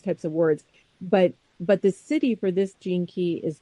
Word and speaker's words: Siddhi: And then this, he calls this thing the city, and it's spelled Siddhi. So it's not City, city. The city.